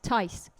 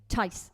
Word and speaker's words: Tahys: Tahys. Rhymes with nice. Tahys. Tahys. So sorry. Tahys to rhyme with nice.